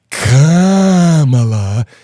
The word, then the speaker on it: Kamala: And he corrected me at one point and said, Kamala. You know that they actually, in the teleprompter speeches, it's leaked out that they put comma, like comma, la, so that people say it correctly.